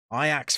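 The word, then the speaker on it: Ajax: gonna say I ax iax fan you pronounce it iax when you're pronouncing it properly by the way help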